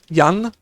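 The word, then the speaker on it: Jan: better be a scared yan than to be a dead yan. So the j is kind of pronounced like a y.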